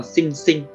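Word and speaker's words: 心身: Cách đọc của nó là sinh sinh, sinh sinh.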